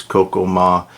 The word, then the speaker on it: Kokomo: It's actually Kokomo, but it was pronounced like this by the natives, Coco Ma.